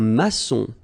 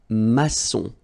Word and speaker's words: maçon: Here you can see that we've got this little cédille beneath the C. Okay. And it just means that you will pronounce this C as S. Okay. So that's the reason why. It's un maçon. Son. Okay. O-N in your nose, nasal.